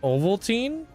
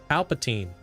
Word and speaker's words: Palpatine: It's pronounced Ovaltine. What? I don't know if you guys are messing with me. Palpatine. There's no way it's pronounced Ovaltine. Dude, Palpatine.